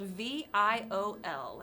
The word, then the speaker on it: Viol: Viol is spelled V-I-O-L, and it is pronounced viol. Like the instrument. Yes, exactly. Ooh. Second ruler. They, she are their pronouns. Name is Temperance Viol.